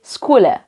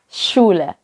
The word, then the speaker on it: Schule: Saya bukan sebutnya Schule, tapi Skule. Karena mungkin terbiasa dengan huruf-huruf yang selama ini kita lihat ya. Kalau CH itu pakai K, jadi kita bacanya Skule. Tapi sebenarnya itu bukan Skule, melainkan Schule. Jadi kalau SCH itu seperti dalam bahasa Indonesia yang ada SY, seperti di kata masyarakat.